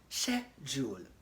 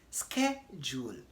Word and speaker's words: schedule: In the UK, the typical British will pronounce the word as schedule, okay? Schedule, that is British English. In American English, they pronounce it as schedule, British schedule, American schedule.